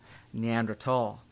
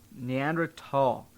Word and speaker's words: Neanderthal: Same with you're supposed to pronounce Neanderthal. Neanderthal. That's a real thing, folks. Not fall. It's a real thing. Thal. Neanderthal. That's how scientists do it.